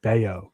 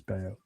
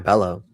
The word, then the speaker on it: Bello: I'm saying Brian Beo. Brian Bellow from the Red Sox. It says Bellow, but his pronounce Beao. Oh, Brian Bellow.